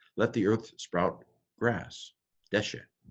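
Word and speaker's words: דֶּשֶׁא: the earth sprout grass Desha it's called a cigarette by the way when you have to see goals the the accent of a Sehgal that goes on the first syllable normally accents and Hebrews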